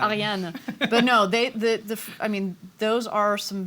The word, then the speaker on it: Ariane: I am also half French, so it's Ariane. Ariane.